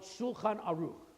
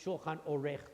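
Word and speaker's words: שולחן עורך: It's supposed to be, we call it Shulchan Aruch, all right? Actually, it's Shulchan Orech, the way it's pronounced in the Haggadah, which is one of the 15 steps of the Seder, right?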